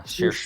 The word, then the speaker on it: Saoirse: Yeah, Saoirse. Saoirse. It's like Porsche, Saoirse. but Saoirse.